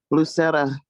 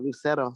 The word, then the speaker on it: Lucero: how you could join lucera um i said your name wrong lucero sorry um i just did